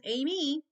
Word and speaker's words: Amy: growing up was aim it's two syllables Amy but most people would